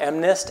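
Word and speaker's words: MNIST: actually come from a data set called eminent I call it amnesty MN ist I think that's pronounced correctly usually the way on this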